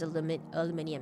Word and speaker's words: aluminium: Pretty sure the proper pronunciation is aluminium instead of Americanized aluminum.